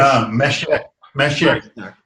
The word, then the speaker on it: Mashiach: Not the Messiah. It's Messiah. The Jewish Mashiach. Well, yeah, Mashiach.